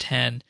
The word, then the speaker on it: X: x dot photo yes it's pronounced 10 not x there's a series of